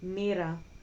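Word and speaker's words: Moira: m i r a mirror. In Greek it's written as m o i m r a. And that is because o i in Greek is pronounced e.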